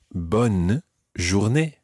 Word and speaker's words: bonne journée: and that phrase is bonne journée bomb is real me now watch it because this is bun not born its bourgeois but bonne journée one is your knee